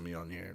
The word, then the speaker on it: Mjolnir: Oh, I love how you got the pronunciation of Mjolnir right too.